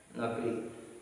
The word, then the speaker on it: knuckle: Now see here pronunciation. Pronunciation, even though K is in front of K is what is in the sentence, but we should not pronounce this. Knit, knob, known, knee, knot, knowledge, knife, no, knuckle. These are the words. K is silent here. K is silent. K is silent letter.